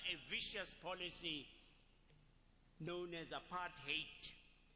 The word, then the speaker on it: apartheid: vicious policy known as a part hate Americans have pronounced it rather nicely a path height but it would need to to be to hate apart apart hate